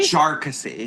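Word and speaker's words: Jarkesy: Jarksy. Thank you. Yeah, Jarksy. Like you're saying Jar Jar Binks, and then you're switching stream. It's very confusing.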